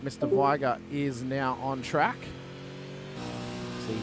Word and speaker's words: Viger: Viger is now on track. See him coming up. Hey. Like bigger better. Well, that's how he pronounces his name, so it's correct.